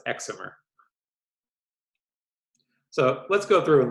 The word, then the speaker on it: excimer: they're called excimer lasers short for excited and dimer and pronounced excimer so let's go through